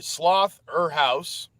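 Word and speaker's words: Slotherhouse: It's literally Sloth-er-house, a play off of Slaughterhouse, which if you know that original movie, was a play off of Sorority House.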